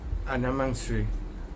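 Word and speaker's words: أنا مصري: Anam Asri.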